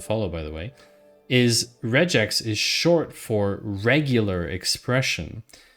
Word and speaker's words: regex: however in my head it's always been regex r g like giraffe so interesting about that uh interesting about that JD thank you Andy sleuth for the follow by the way is regex is short for regular